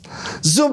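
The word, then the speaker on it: שוב: Zub itu bacanya zuf adalah kembali ke titik asal.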